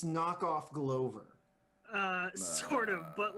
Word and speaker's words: Glover: did you never play Grover? No. On, like the original like Nintendo. First of all, it's called Glover Glover, because you're a Glover.